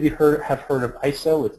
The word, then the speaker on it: ISO: 60s most of you heard have heard of iso it's by the way it's pronounced ISO not ISO um International Organization for standard uh